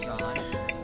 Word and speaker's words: Jean: This is John It's spelled as Jean but it's pronounced as John and I would just